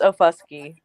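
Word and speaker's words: Okfuskee: It's Ofusky. Okay, yeah. What I would pronounce it, I'd be bleeped, okay, on YouTube, because that's where I want to go.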